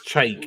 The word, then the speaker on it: Chike: Ass Chike rhymes with bike. Yeah. Oh, okay. Is it? That's a dumbass name. It's Chike is a dumb name.